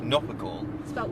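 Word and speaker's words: Knopper gall: Nopper gall. Spelled with a K.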